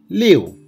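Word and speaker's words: 六: Liu, liu, there is fourth tone. So we need to pronounce liu.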